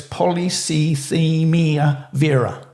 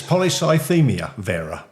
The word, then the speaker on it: polycythemia vera: judge yeah bring up I think it's poly CIA Vera no not a bad effort that's that's more polya Vera close well let's welcome Keith and how do you pronounce it Keith it's polycythemia vera right okay so you're